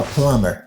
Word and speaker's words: plumber: the bathroom, is a plumber. Plumber. Yon moun ki ka arrange bagay sa yo rele moun sa plumber. Plumber, B a pa prononce dans mot sa là ou dit plumber.